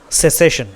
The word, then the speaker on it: cessation: इसका जो प्रोनाउंसिएशन है वो दोस्तों क्या है, सेसेशन। इसका क्या है प्रोनाउंसिएशन, सेसेशन, जिसका मतलब क्या होगा दोस्तों, इसका प्रोनाउंसिएशन क्या हो गया, मैं दोबारा पढ़ लेता हूँ आपके लिए।